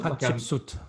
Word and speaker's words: Hatshepsut: Kiva and Conacher, if that's the correct Celtic pronunciation for those. It is. And also some of Hatshepsut, is that her name? Hatshepsut, yes.